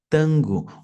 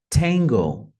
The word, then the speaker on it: Tango: gente tem em português Tango em português a gente fala tango olha como é diferente em língua inglesa vai ser tango tango taxi via que back